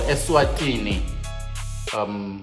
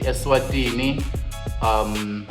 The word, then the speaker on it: Eswatini: Original is from Swaziland, was born in Swaziland or Eswatini, to say it correctly, Eswatini.